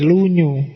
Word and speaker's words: Lunyu: Yang pertama judulnya Dasu, yang kedua lunyu. Bacanya misah ya kalau disambung jadi lunyu.